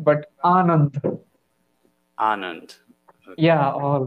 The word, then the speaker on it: Anand: Um, is your name Anand? Is that how you pronounce that? Yeah, like you are right, but Anand.